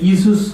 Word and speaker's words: Esau: 이게 발음하기가 굉장히 어려워요. 이 미국 사람들은 이수스 그러는데 우리는 그렇게 발음 안 하고 쉽게 합니다. 에서. 야곱이 에서를 만났다.